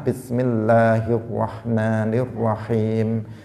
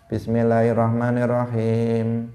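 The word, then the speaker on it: بِسْمِ اللَّهِ الرَّحْمَٰنِ الرَّحِيمِ: Sebagian orang membaca basmalah, dia mengatakan bismillahirrahmanirrahim, mana tasydidnya, hilang semua. Dia mengatakan begitu. Harusnya bismillahirrahmanirrahim.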